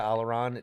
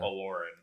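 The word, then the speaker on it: Olórin: In that trivia, Alaron, didn't Gandalf go by Alaron in some of the books?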